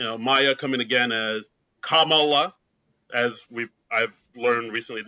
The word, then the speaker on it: Kamala: And uh but and then of course we had you know Maya coming again as Kamala as we I've learned recently it's pronounced Kamala like yeah one one of our followers on